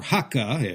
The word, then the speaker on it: Hakka: people, these Kejiaoren, or Hakka, as Kejia is pronounced in Cantonese, lived side by side